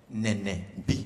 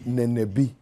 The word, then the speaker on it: Nenebi: How do you pronounce the name properly? Nenebi. Nenebi.